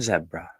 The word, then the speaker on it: zebra: Zebra. Wow. I've never had zebra or zebra, as Americans say.